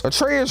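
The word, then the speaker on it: Atreus: way to go atraeus atraeus rhymes with betrus cuz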